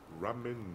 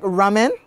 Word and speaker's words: ramen: Ramen noodles is from what country? Spell it.